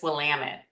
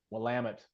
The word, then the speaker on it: Willamette: Sounds like me, although my fellow Bearcats would be offended if I didn't correct you and say it's Willamette. Willamette.